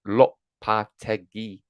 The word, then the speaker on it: Lopetegui: It's pronounced Lopetegui.